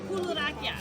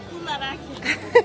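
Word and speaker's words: κουλουράκια: Kularakia. Say it again. Kularakia.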